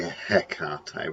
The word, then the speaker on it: Hecate: akata because i say ekate a lot of people will say hecate with the h but i've heard that the proper greek way of saying is air cathay and also in bristol